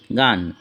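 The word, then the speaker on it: go: আবার জি এর পরে এ, ও, ইউ থাকলে জি এর উচ্চারণ গ হয়। যেমন জিএএমই গেম, জিও গো, জিইউএন গান।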